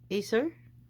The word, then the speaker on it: Acer: How do you pronounce that? Acer? It's an Acer? Is SA0 Is it series? Acer? Yeah, it's Acer.